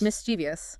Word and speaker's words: mischievous: been guilty of myself how do you say this word make one mischievous mischievous okay so you don't say mischievous no mischievous two syllables less two syllables less wow I've been adding extra sys this whole time it's like I was trying to make the word longer it happens it's that silent eye after the V that trips people up